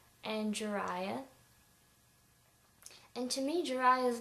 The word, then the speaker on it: Jiraiya: And to me, Jiraiya is not really that out there. Maybe the spelling throws people off as far as them thinking it's weird or odd, but Jiraiya sounds so much like Jeremiah, I don't see how it's that weird.